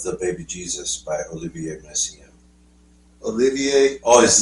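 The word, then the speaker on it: Messiaen: 20 views of the baby Jesus by Olivier messian Olivier oh his name yeah well both I mean Olivier massian yes there's there he is but any was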